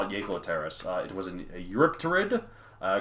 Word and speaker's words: Jaekelopterus: I'm assuming it's pronounced Jaekelopterus. It could be Jaekelopterus. I think Jaekelopterus. Yeah, because Germanic words beginning with the J make the Y sound. You're like Jaeger, Johann.